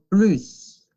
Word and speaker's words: plus: Les Français consacrent plus. La S se pronuncia porque significa más.